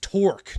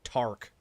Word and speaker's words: torque: Pronounced torque, not tark.